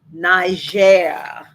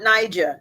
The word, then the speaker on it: Niger: tonight we learned something Niger Niger not Niger yeah cuz it's French hold on one second